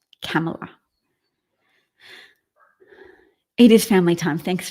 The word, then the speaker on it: Kamala: Did I mispronounce Kamala? Kamala.